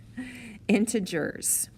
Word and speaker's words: integers: this word is integers so that's a soft g not integer integers so integers are going